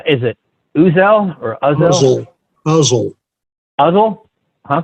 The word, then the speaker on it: Uzzel: Uzzel. Uzzel? Huh? Correct. Like muzzle without the M?